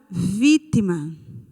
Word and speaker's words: vítima: Nós temos aqui a palavra vítima. Vítima. A sílaba tônica é vi. Ela é a última, a penúltima ou a antepenúltima? Muito bem, a antepenúltima.